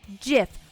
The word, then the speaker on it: GIF: it's pronounced jiff like the god damn peanut butter me